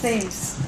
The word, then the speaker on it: TheMHS: Anyway on this day at - is it 'themms' or 'themes'? "It's now pronounced 'themes'" 'Themes' ok thankyou very much.